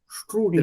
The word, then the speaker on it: Strudel: So how to pronounce it? Strudel? Stru. S-T-R. True. And the S is Yeah. always with a sh sound. Strudel.